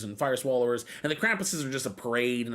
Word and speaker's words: Krampus: The narrow streets in the old city section of Salzburg were packed with pedestrians as the Krampus, Krampus, where you stretch out that last syllable, that's a group of Krampuses.